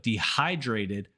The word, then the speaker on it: dehydrated: perida are not the same so instead of dehydrated many Spanish speakers say dehydrated this is another